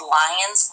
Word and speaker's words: Lyon: The second quarter, we did what was called Lion's Quilt, and that's spelled Lyon.